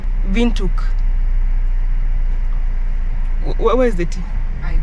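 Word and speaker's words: Windhoek: way you spell wind wind quck yeah we we've been saying wind quck if you're not from around from South Africa or Namibia I'm sure you pronounce it wrong guess what it's called vuk where is the tea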